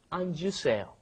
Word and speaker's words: 앉으세요: it comes out anta, but then when it comes in front of another vowel, you end up pronouncing the J sound at the end. It comes out 앉으세요.